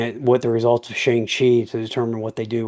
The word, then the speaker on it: Shang-Chi: how much money, like, Shang-Chi makes or Shang-Chi, I guess is how, MCU is pronouncing it, whatever, um, and then Eternals would, probably determine what they're gonna do with it.